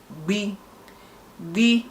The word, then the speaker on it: gb: Nke asatọ gbi is the 8th alphabet na asụsụ ndị Igbo, pronounced as gbi, G-B-E-E, gbi, G-B-E-E, and spelled as G-B.